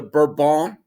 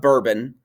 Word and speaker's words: Bourbon: absolute monarchy of the burban kings not bourbon uh that's that's our english pronunciation but burbank kings and that is like